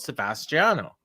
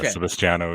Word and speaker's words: Sebastiano: your name is spelled Sebastiano, so I don't know which it is, or is both okay? So both are fine. The Sebastiano is the Italian, but most people call me Sebastian.